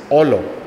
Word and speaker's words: Olo: Her nickname is Olo, O-L-O. And this is because in Italian, the word for gold is Oro, O-R-O. But when she was little, she couldn't pronounce the R. So she'd always say Olo, Olo, Olo.